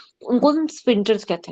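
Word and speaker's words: sphincter: इसमें ना स्प्रिंटल्स में एच गायब है तो स्प्रिंटल बोलना है उसको। ठीक है? तो पता नहीं क्यों एच क्यों लगाते हैं जब साइलेंट है तो आई डोंट नो।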